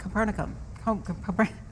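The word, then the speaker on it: Copernicium: Capernacum, you said it right.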